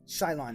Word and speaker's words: Shyllon: Ishmael Shyllon. Am I pronouncing that? Yeah, Shyllon, yes.